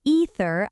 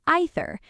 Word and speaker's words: either: the most important thing whichever pronunciation you choose make sure the th sound is there the voiced th the same sound as in the this there eater without the th wrong the th must be present either with